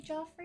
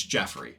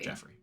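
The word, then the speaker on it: Geoffrey: Jo yep it's Jeff it's not it's it's it's spelled g e o FF r e y would that not be Joffrey no jofrey is j f like Joffrey from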